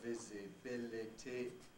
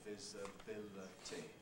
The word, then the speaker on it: visibility: word or a consonant so that the older visibility is giving way gradually to visibility visibility and both gibson and i have recommended this sport with the schwa as being more usual nowadays it doesn't mean the